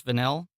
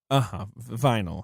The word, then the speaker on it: Vinyl: Well, and I'll say, a lot of the crew that worked on the television series Vanille, HBO's Vanille, Vinyl. He's referring to. Well, I mean, sure, you would pronounce it like that.